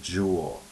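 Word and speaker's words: joule: again and all also the word Jewel which is kind of something that we did in our reading on Tuesday with a sub it rhymes with cool so when you read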